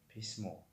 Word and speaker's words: письмо: мисол письмо ҳамхел письмо хат. ва дар ин ҷо ударение охирон ҳарф аст.